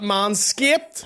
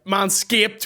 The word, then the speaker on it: Manscaped: i've said it wrong mindscape man skipping that landscape man escaped with an e.d at the back the only place to